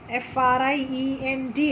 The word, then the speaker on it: friend: My sister's friend, F-R-I-E-N-D. How you will read it? Friend, friend, friend. I is silent. Friend.